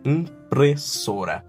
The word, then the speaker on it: impressora: So this word I was teached much, impressora. You need to use all that we learned in this class to pronounce this.